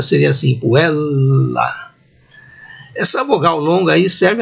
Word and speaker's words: puella: Esse sinal em forma de barra, aí, que o dicionário pode indicar, indica a vogal longa, mais demorada. Então a pronúncia seria assim, puella.